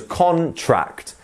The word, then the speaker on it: contract: look at contract so the noun is a contract it goes contract so up trct that is how the word stress works here a contract and